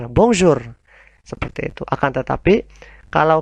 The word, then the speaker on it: bonjour: ketika kita mempelajari alfabet, huruf R kita samakan dengan pengucapan huruf Kh ketika kita mengaji Al-Quran.